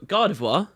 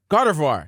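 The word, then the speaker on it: Gardevoir: Gren grador Gren oh oh oh my God gardivoir gardivoir there is yeah everyone gets r and then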